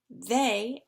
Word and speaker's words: they: hair their air hair they as in they are rhymes with say and pay they say pay quotation